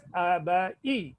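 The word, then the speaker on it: अभय: Because the last letter you will pronounce half, right? Am, you write, but you pronounce as Am. Same way you will write Abaya, you will pronounce as Abai, Abai.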